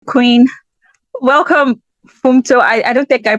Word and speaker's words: Funmto: Queen welcome fto I I don't think I pronounce your name properly it's lovely to meet hi my name is f it's pronounced fto fto yeah okay so I'll start with the